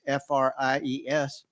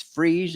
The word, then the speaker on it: Fries: And he said, it's freeze in the winter and fries in the summer.